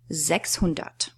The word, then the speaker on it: sechshundert: 600.